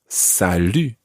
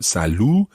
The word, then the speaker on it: salut: or a hi and that is salu that's it and this time we can use that e sound it's not salu listen carefully to the difference between bonjour